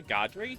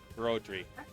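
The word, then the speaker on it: Brodri: though no not God did you say godri no it's broy b r o yeah d r i broy did say hard to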